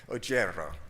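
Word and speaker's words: Oggero: I learned how to pronounce Noemi's first name years ago, but I just learned how to pronounce her last name today, Ojero.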